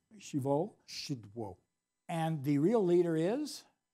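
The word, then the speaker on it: Szydło: of undermining democracy and how do you say the polish Prime Minister's name shiva shiva and the real leader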